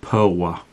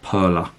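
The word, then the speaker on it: Perła: That's pronounced Perla. The L with the little line through it is a W sound. Not Perla, as everyone calls it over here.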